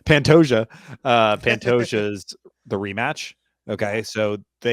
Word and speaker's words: Pantoja: I don't know how to pronounce his name. Pantoja.